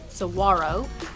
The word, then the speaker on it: Saguaro: We went to Saguaro National Park, or if you're from the area, Saguaro. We had never heard it pronounced this way, but apparently that's the way that you're supposed to say it.